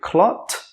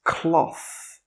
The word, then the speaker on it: cloth: How do you pronounce it? Is it clot or cloth? It's cloth.